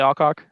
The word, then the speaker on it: Alcock: Um, but Millie Alco, that's your saying, right, Raven? Uh, Millie Alcock, she's great. That's how you say it.